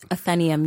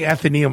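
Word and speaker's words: Atheneum: we hit that it's at it's at the athenium in Greek toown is that how you pronounce it athenium yes I've been saying athum all these years you've had incorrect salab imp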